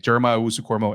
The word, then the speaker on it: Jeremiah Owusu-Koramoah: Jeremiah Owusu-Koramoah.